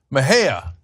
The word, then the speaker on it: Mejia: another California candidate in the 34th District, Kenneth Mejia. I'm sure I said that wrong. So I am the worst with names. Kenneth, how do you say the last name? Kenneth Mejia.